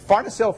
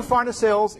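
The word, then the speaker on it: farnesyl: And Pharnacil pyrophosphate is spelled F-A-R-N-E-S-Y-L.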